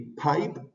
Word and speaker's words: pipe: se le dicen aspiration más que una aspiración es una exhalación que tienen algunas letras al inicio de las palabras como el caso de la letra p y Pipe significa tubería reglas de